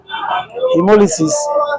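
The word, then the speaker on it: haemolysis: phenomenon known as chemolysis spelled as h a e m o l y s i s British spelling hemolysis the cell becomes the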